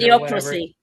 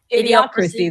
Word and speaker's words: Idiocracy: Idiocracy. Idiocracy.